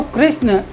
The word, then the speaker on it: कृष्ण: किंतु कृष्ण के मध्य में जो आधा षटकोण आया उसका उच्चारण का भार क्री पर पड़ रहा है, इसलिए कृष्ण यह जो है गुरु हो जाएगा और अणा लघु होगा। इस प्रकार कृष्ण गुरु लघु होगा जिसमें मात्रा 2 और 1 है।